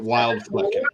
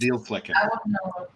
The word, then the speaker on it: Wildflecken: We would pronounce it Wildflecken, horrible. but it's actually pronounced Bielflecken.